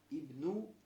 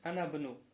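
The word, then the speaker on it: ابن: здесь посередине говоришь анабну. Анабну. Почему? Потому что посередине же ибн находится. Анабну. Сразу ибн, вот это хамза не читаешь. Мы только что объясняли. То, что если она ибн, если будет в начале, то ты говоришь ибнука, ибнуху, ибну Мухаммадин. А когда посередине говоришь вабну, и здесь анабну.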